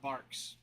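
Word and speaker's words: Barq's: Barks is better. It is with a Q though. Yeah, it is. I mean, it's spelled with Q, but it's pronounced like that though.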